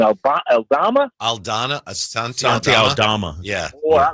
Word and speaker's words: Aldama: Asante Aldama.